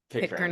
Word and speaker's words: Pitcairn: It takes place on, is it Pitcairn? Because I actually looked up pronunciation. Did I say that right? Yeah, Pitcairn Island.